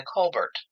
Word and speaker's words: Colbert: She went by Colbert, which is I think the how the name is actually pronounced.